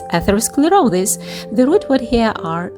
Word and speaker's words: atherosclerosis: Break it down into six parts atherosclerosis so it's atherosclerosis the root word here are "athero-" which means gruel or paste and "sclerosis" which means hardening.